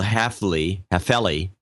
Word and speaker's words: Halfley: Michael Halfley is the way it's pronounced.